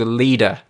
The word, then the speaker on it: Leda: This moon is called Leda. That's spelled Leda.